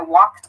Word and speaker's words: walked: you say, like, I walked around the park or something, or I walked around my neighborhood, make sure to use this T sound in your pronunciation. Walked, walked.